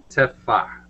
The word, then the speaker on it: tefah: All right, tefah. I'll write that down. This is also a common term in the laws of the Sabbath. Tefah. And that H you have to pronounce.